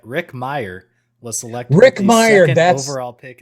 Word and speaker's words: Meyer: But he did confirm it's just Meyer, like Meyr.